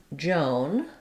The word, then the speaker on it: Joan: So looking at the woman's name, Joan, letters OA say the O diphthong, the O vowel.